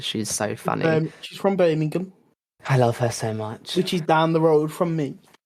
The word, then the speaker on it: Birmingham: Have you seen how Americans say Birmingham? They're like Birmingham. Birmingham. Are you in Birmingham? It's Birmingham.